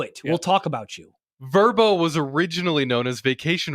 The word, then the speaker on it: Vrbo: payroll you mean verbo it's pronounced vbo isn't it no it's pronounced verbo is yeah they always say verbo in their commercial ni's doing verb it's